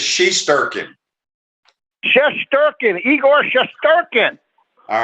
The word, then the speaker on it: Shesterkin: Pronounce his last name. Shesterkin. It's Shesterkin.